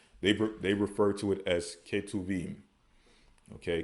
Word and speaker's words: Ketuvim: They refer to it as Ketuvim. Okay, Ketuvim.